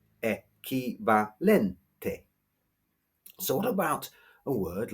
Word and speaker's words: equivalente: Or another word, equivalente, stressed on the second e, equivalente.